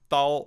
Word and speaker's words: Thal: we have an very honorable guest Ron bumblefoot Thal is that how you pronounce it right I think I think I